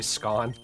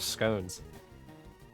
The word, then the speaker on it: scone: You want me to say scone like that? No, I'm not calling scon. I'm not calling them scon. I'm calling them scones.